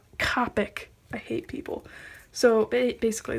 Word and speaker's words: Copic: And it's Copic, not Copic.